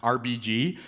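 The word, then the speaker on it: Arbygee: And her name is spelled A R B Y G E E and it's pronounced RBG.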